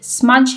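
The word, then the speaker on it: smudge: अब यहाँ पर आप देख सकते हैं जो वर्ड स्मज है इसमें लेटर डी हमारे पास साइलेंट है, यानी इसको हम प्रोनाउंस नहीं करते लेकिन स्पेलिंग्स लिखते वक्त हम इसको लिखते ज़रूर हैं।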